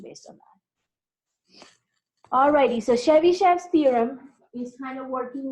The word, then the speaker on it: Chebyshev: get the pronunciation because I want to say Chevy, I think it's Chebyshev, even though it's S-H-E-V at the end. I think it's pronounced as Chev.